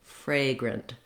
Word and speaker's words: fragrant: be almost no vowel fragrant so lengthen your fray syllable and then go very short and light on your grunt syllable fragrant you may notice